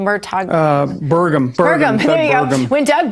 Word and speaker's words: Burgum: night was where the candidate Doug, is it Murtaugh? Is that how you say his name? Murtaugh? Burgum.